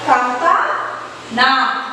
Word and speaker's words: कामतानाथ: कामतानाथ। कामता पहले पढ़ो कामता, फिर पढ़ो नाथ।